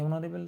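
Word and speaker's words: honorable: এ অনারেবল তো হবে না, অ উচ্চারণ হচ্ছে, সেই জন্য অ্যান করতে হবে, হি ইজ অ্যান অনারেবল ম্যান।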